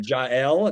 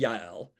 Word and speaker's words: Jael: Or Jael, that would be Yael.